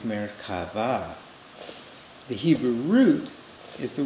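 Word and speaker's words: מרכבה: his texan accent way americaba but the real pronunciation in hebrew is merkava the hebrew root is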